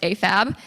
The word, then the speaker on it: AFAB: is male to female afab afab but we pronounce it afab is assigned female at Birth and amab is